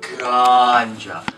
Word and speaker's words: ganja: You have to go ganja. Like, you have to make the G go ganja.